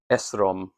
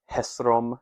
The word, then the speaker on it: Esrom: Phares the agenese ton Esrom. Esrom is, you could probably pronounce it Hesrom as well, but Esrom is Hezron, the name Hezron.